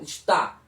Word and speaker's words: está: A nossa dúvida aqui reside no estar com R e o estar sem R com acento, que a pronúncia é mais forte na última sílaba. Está, ok?